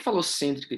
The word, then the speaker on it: falocêntrica: Então, por que falocêntrica aqui ó, está errado? Alguém consegue falar? Falocêntrica é proparoxítona. Então, a sílaba tônica, ó, falocêntricas. Então, na separação silábica, é aqui, ela é proparoxítona.